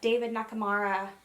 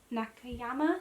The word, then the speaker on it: Nakayama: Then the other mini merch announcement is that David Nakamura. It's not. Can you edit that to be the right pronunciation? David Nakamura? It's not. It's not David. Go on then. David Nakayama? Nakayama? No.